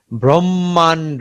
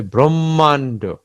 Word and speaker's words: ব্রহ্মাণ্ড: ব্রহ্মাণ্ড, ব্রহ্মা, মা কিন্তু আমরা টানছি, ঠিক আছে, দ্বিতীয় মটা একটু টেনে পড়তে হচ্ছে, ব্রহ্মাণ্ড।